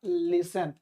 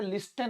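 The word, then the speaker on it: listen: अब देखिए मेरी बात सुनो, क्या होगा सुनना का, लिसन। अब देखिए यहाँ पर टी साइलेंट है, लिस्टन नहीं पढ़ेंगे, लिसन।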